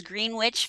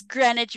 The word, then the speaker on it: Greenwich: believe was Greenwich Village you pronounced it as green witch Village and so I went and I told you that it was Greenwich Village and you uh